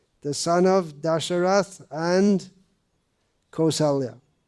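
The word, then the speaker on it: कौसल्या: son of dasharath and kosalya kosalya or koshal it's pronounced either way either and of course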